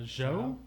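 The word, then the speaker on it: Zhao: the u.s november 5th it's directed by chloe zoe is that how you say her name zoe uh joe joe okay she's a chinese chinese director she's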